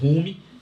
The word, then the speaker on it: Hume: A gente escreve Hume, mas pronuncia David Hume.